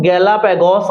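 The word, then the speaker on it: Galápagos: अब वो ना साउथ अमेरिका के साथ ही एक जजीरा है, उसका नाम है गैलापैगस। क्या नाम है? गैलापैगस बोलते हैं, कुछ लोग इसको गैलापैगोस बोलते हैं, आप जो मर्जी प्रोनाउंसिएट कर लो।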